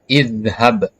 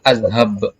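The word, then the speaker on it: اذهب: kasrah Maksudnya ya kemudian makanya di sini dibaca idzhab dibacanya ada kasrah boleh nggak dibaca azhab jadi jika berada di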